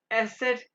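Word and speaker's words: Eszett: देखो इसको प्रोनाउंस कैसे करते हैं। एसेट या शार्प एस एसट या शार्प एस।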